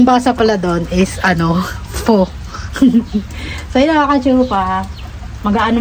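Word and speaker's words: phở: Very satisfy yung ating ano fo ganon po siya bigkasin. Akala ko dati basa doon po yung parang fo pala dapat pala f ganun pala yung mga ano.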